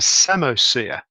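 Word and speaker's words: psammosere: And of course, A-level, you know that such an ecosystem is called a samosphere, spelt with a letter P, a silent P.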